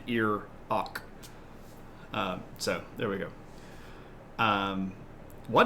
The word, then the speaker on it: Iraq: Except it's not pronounced Iran. It's not a past tense sentence. Neither is Iraq. It's ear on and ear ok.